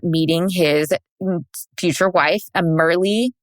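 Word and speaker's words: Myrlie: future wife a merly is that how you say her name merly merly I think it's merly that's how you say it m y r l i e I think is how you spell it that's how I have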